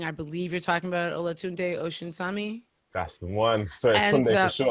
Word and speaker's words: Olatunde Osunsami: And for the people who are wondering, I believe you're talking about Olatunde Osunsami.